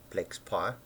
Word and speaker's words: PlexPy: transcoding tools we've installed flex P which is a statistical monitoring system written in Python pronounced flex pi InDesign specifically for flex